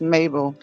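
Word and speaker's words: Mhabel: guys go check out I think her name is pronounced Mabel it's m-h-a-b-e-l she sent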